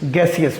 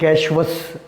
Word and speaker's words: gaseous: गैसियस. बहुत सारे लोग कहते हैं गैशवस, ये गलत है. इसकी ट्रू करेक्ट प्रोनाउंसिएशन क्या है? गैसियस exchange.